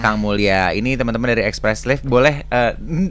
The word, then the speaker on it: Espresslave: Ini teman-teman dari Express Slave. Boleh bacanya apa yang benar nih?